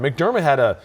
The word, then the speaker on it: McDermott: McDermott he was all over Josh McDaniels' offense yesterday.